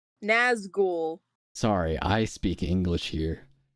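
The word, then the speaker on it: Nazgûl: No, I know Nazgul is like a seagull, right? Sure, pal, sure. Well, it wouldn't be called a gull if it wasn't a seagull. Like, this is obvious. It's pronounced ghoul. Nazgul.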